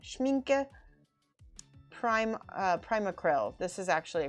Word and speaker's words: Schmincke: i got some schmenke schmenke there we go i'm pronouncing it wrong schmincke prime primacryl this is